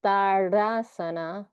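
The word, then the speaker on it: tadasana: It also sounds like that when I say tardasana. Sounds like I'm saying tardasana, but I'm not.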